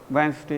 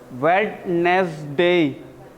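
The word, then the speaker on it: Wednesday: वेंसडे, इसका pronunciation वेंसडे. वेडनेसडे, वेडनेसडे, इतना लंबा वाला प्रोनाउंसिएशन ना करें, शॉर्ट में कर दिए, वेंसडे, वेंसडे.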